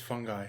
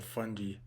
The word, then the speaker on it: fungi: The next kingdom is fungi, or fungi.